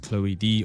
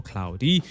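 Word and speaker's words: CLOiD: So staying on the topic of robotics, we had LG introduce their humanoid Cloyd, pronounced Chloe D or Cloudy, and it's actually a part of their vision for zero labor homes.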